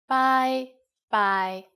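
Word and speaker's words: 拜拜: and you are right it's just like the english bye bye with a cantonese pronunciation bye bye and in formal situations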